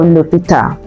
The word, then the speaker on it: l'hôpital: In the case of l'hôpital, hôpital, the H that begins hôpital is a silent H as well. So silent H is treated like a vowel.